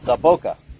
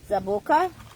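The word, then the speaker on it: zaboca: It's saboca. Zaboka?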